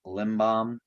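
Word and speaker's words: Lindblom: Help me with his last name, Dom Limbaum. Right, I said that Yeah, you're right. saying it right, Limbaum.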